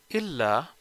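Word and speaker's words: إلا: Illa is written with tashdid.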